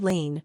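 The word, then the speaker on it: lien: The word lean, pronounced lean, is a Latin derivative meaning to bind.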